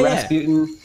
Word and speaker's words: Rasputin: Rasputin.